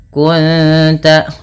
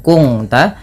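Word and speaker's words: كنت: Cara membacanya bukan kung ta, tapi menyamarkan bunyi suara nun kepada ta dan ditahan bunyi dengungannya 2 harakat. Kunta bukan kungta, nanti berbeda bunyinya.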